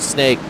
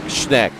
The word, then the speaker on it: Schneck: Not snake. Schneck. I said it right.